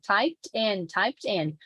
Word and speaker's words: typed: So typed in. So don't try to like trick the listener and not pronounce the T. Just go for the base form, because it's not going to work. It's subtle, but depending on what's coming next, it has to appear like T, popped, typed in, typed in, typed in, typed in, right? Okie dokie.